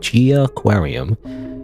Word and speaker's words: Jiaquarium: the developer's name is Gia Gia aquar is how you pronounce it g aquarium G aquarium all right have I